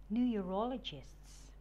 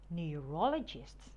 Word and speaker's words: neurologists: after me endocrinologists endocrinologists neurologists knee you raw low chests neurologists oncologists on core low